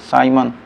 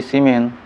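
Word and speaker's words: siemens: करेंगे तो क्या कहेंगे, साइमन। कोई साइमन पढ़ता है, कोई सीमेन, या कोई साइमन पढ़ेगा, कोई पढ़ेगा क्या, सीमेन। SIEMEN क्या होगा, साइमन या सीमेन भी आप जो पढ़ना चाहें पढ़िए, लेकिन स्पेलिंग तो इंग्लिश में सेम ही होगा।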